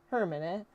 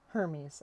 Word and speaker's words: Hermes: Hermit. Hermes. I correct him. Right. Herman. The boy finally looks up. He said Hermes.